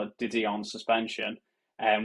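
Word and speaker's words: De Dion: going to call it didon suspension and which is correct in the English pronunciation and I got absolutely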